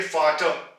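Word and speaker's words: Vater: यहां पे ये एंड पे आया था तो हम इसको प्रोनाउंस नहीं करेंगे, यानी कि हम इसको कहेंगे फाटर, फाटर।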